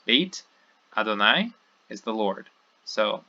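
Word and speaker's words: בית: It takes too long for the speaker to say bayit, and we want to get to the accent on the next word, so it just becomes beit.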